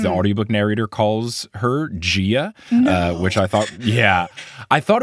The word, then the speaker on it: Gaia: And I always imagine her like Gia, like an Italian lady. Yeah. But what people informed me was that it's Gia, probably more like Pangaea.